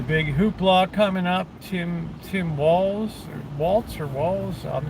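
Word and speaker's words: Walz: Walls, pronounced walls.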